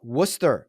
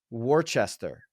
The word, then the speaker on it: Worcester: Louisville number three uh Worcester Mass a lot of people would read that Worchester it's Worcester it's Worcester Nicole a